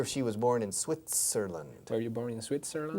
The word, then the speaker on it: Switzerland: Have you ever lived in Switzerland? No, Switzer. Switzer. Tiene que oírse la sílaba en medio. Switzer. Switzerland. Land, no, Lund. Land.